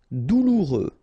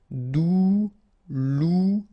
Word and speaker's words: douloureux: Douloureux. Remember, final X not pronounced, so you get this OU together. Ou, douloureux. Douloureux.